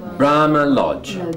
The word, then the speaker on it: Brahma Lodge: Brahma Lodge. Bra. Lodge. You're both correct. It is. This is the strong one, and this is the strong one. And there we are. Okay. Brahma Lodge.